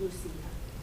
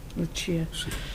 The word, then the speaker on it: Lucia: She pronounces it Lucia. Lucia, excuse me. I was the Italian way was a Luchia.